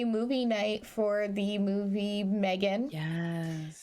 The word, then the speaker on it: M3GAN: night for the movie Megan yes which is spelled m3gan because it was like third model or whatever and I have to